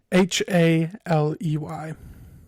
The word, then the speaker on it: Haley: Haley. Like Halley's Comet.